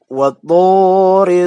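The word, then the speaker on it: وَطُورِ: Ya, dalam pengucapan huruf to itu jangan sampai kita membusungkan atau memanyunkan, kalau kata Sundanya huruf to-nya itu bibirnya, ya. Wattu. Itu. Jadi antara ujung lidah dengan pangkal gigi yang atas.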